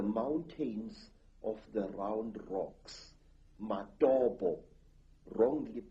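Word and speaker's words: Matobo: place called the mountains of the round rocks matabo wrongly pronounced matopo in in Zimbabwe this Hills are really not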